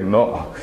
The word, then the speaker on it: know: K-N-O-W, we don't pronounce the word K, we say no.